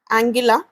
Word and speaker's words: Anguilla: Caribbean सी में एक island है, ये गलत लिखा हुआ है दोनों जगह, इसकी स्पेलिंग होगी एंगिला, ANGUILLA।